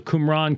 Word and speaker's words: Qumran: and the essenes and the qumran community which is how you pronounce it um and um